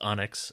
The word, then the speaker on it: Onyx: But yes, uh, the correct pronunciation of Onyx is Onyx and not anx.